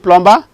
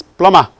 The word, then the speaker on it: plumber: Is it plumber? It's not plumber, it is plumber. The B is not pronounced.